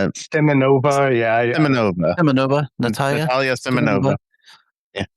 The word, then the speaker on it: Simonova: How do you pronounce her last name? Simonova? Simonova, yeah.